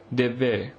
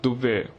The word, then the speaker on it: Devve: The Badagas of the Nilgiris hold an agricultural festival called Devve, which should on no account be pronounced Duvve, which means burning ground.